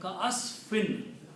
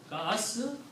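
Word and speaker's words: كَعَصْفٍ: So the word becomes ka'asfin. Ka'asfin. Not meme yet, noon only. Okay. Meme will become because of this one. So the pronunciation right now is ka'asfin, like F-I-N.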